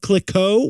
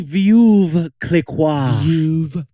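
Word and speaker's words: Veuve Clicquot: Pitt tells us that the fancy French champagne brand of clicko what's that one really it's really view Clique finally let's go South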